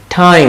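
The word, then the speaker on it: time: টাইম দেখেন ঠয়ের মতো, টাইম না কিন্তু, টাইম।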